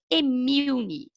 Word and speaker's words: (M)Mun: Então a gente tem que tomar um pouco de cuidado para a gente não falar Moon, fica feio, né? Então a pronúncia do nosso produto eu coloquei aí, né, com letras grandes para a gente entender, é Emilne, tá?